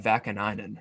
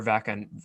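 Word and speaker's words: Vaakanainen: I know they got Vakanainen or Vakan, whoever the hell you say his name. You got it right the first time.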